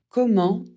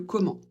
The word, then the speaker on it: comment: Comment pour un moyen ou une manière ? Pour la prononciation E et N, ça fait en on ne prononce pas le t à la fin, sauf pour comment allez-vous ?